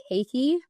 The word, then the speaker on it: Keiki: So it's actually pronounced Kansas City Keiki.